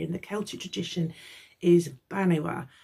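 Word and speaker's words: Banbha: the Celtic tradition is Banwa. And that's the one that's spelled B-A-N-B-H-A. She might be Banba, but I've Googled it and it looks like she's Banwa.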